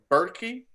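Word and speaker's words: Berkey: might look up a berky filter and say oh that thing cost 250 I don't want to get it and what how do you say it it's a bery yeah b r ke y oh okay got you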